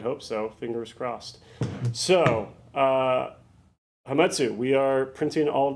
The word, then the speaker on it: Hametsu: You guys have been pronouncing it wrong this whole time. It's actually Hametsu.